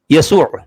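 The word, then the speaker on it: يسوع: تو میں کہہ رہا تھا کہ یعنی سریانی حروف ہجا کو جوڑ کر لکھا تو جائے گا محمد، جبکہ اس بنت کا تلفظ، اس کا پروناؤنسیشن کیا ہوگا؟ یسوع۔ آپ لکھ رہے ہیں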